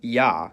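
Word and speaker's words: Я: It's called yah. And as its name suggests, in most cases it sounds like ya. However, when it comes after a soft consonant, which is a consonant pronounced with the tongue close to or touching the roof of the mouth, the y is dropped and it's pronounced as a.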